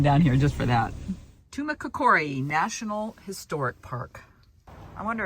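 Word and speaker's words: Tumacácori: It's pronounced Tumacacori.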